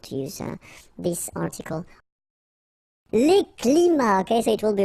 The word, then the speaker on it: climats: So you can see that even if we've got the plural form here, S, we don't pronounce the S, and then we don't pronounce the T either. Les climats tropicaux.